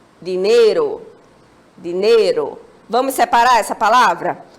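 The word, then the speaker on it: dinero: Temos uma próxima palavra, que é dinheiro.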